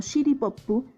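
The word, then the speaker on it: シティポップ: City Pop, o pronunciado en japonés como Shitty Poppu, es un subgénero de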